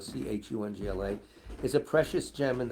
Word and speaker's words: Khyongla: To all other people and all the monks in Dayab, the name of Lama Khyongla, pronounced Chungla, Chungla, is a precious gem in the crown of the Buddhist faith, and you are his reincarnation.